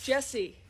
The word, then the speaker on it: Jesse: Yeah, and my name is Jesse. Rhymes with Bessie.